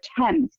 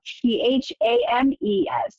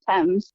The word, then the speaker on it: Thames: In particular, the main river through London is the River Thames, but it's spelled t h a m e s. And when I was little, I thought for years that it was pronounced Thames.